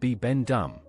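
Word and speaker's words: Bibendum: His real name is Bi Bendum, pronounced Bi Bendum.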